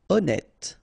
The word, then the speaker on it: honnête: Honnête. So remember, H doesn't exist.